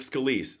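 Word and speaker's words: Scalise: Representative Scaliz says after Freedom Caucus, that's how that's pronounced. Now it's pronounced Scaliz.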